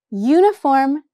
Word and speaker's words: uniform: Y, uniform starts with the consonant sound Y, so it gets a.